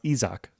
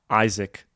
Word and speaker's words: Isaac: just texted in his his first name is pronounced isak isak uh of course which is the sort of the the the Spanish version uh Isaac probably would sound quite